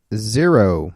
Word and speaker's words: Xero: Xero. Xero. Xero. Spelled with an X.